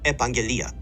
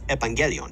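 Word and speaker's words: επαγγελία: The feminine noun that sometimes refers to the reported efficacy of a therapeutic medicine is pronounced epangelia, with a stress on the penultimate syllable. Dr. Hillman mispronounces it as evangelion, as if it were neuter, trying to make it sound like evangelion, which means gospel.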